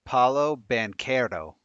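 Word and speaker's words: Paolo Banchero: um we don't know I said banero it is pronounced Paulo banero all right so that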